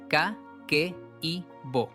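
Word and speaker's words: Kakeibo: En Japón existe un método de ahorro que se llama caqueibo. Se pronuncia k i bo.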